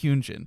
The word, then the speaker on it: Hyunjin: I was like, I'm gonna go find a video that's like, what's the pronunciation? It is Hyunjin.